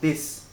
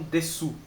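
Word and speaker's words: です: E lembra que o des aqui, cara, você tem que pronunciar des, não desu.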